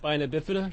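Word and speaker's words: spina bifida: Uh it's pronounced spinobipida.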